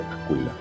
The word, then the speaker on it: aquila: en el latín y en el latín no se dicea, se dice acuila.